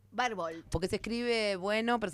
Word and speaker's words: Barbault: Se pronuncia Barbolt. Barbolt porque se escribe bueno, pero se pronuncia Barbolt.